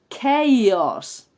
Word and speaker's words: chaos: viene del griego Entonces cuando una palabra inglesa viene del griego y se escribe con ch la pronunciación de esa ch no es la habitual sino que es vale por eso es kos la palabra os Imagine